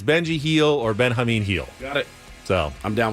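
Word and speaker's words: Benjamín Gil: by the way I have decided uh it's Ben Hamin heel or Benji heel not Gil because I don't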